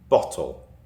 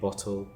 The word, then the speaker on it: bottle: So I pronounce my T's. So I say bottle and I say water. Bottle. Water. That's how I say it. A bottle of water. That's my accent. I've got a northern Cheshure accent and I pronounce my T's. But there are accents in the UK where they don't pronounce their T's.